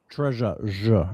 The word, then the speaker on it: treasure: This is a very unusual sound in English. It looks like number three, but it's not number three. Here is our word. What's the word? Treasure. treasure. You usually hear this in French, much more common in French, but we have it in English.